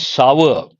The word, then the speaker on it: sour: And this one, it is not sore, it is sour, acidic, sour, not sore. Please remember, how do you pronounce that? Sour.